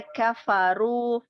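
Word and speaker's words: كفروا: Runya ditebalkan lagi. Coba sekali lagi. Balil ladzina kafaru fi takdzib. Ya. Kafaru. Kafaru. Aru. Angkat ininya, rahang sama lidahnya agar diangkat.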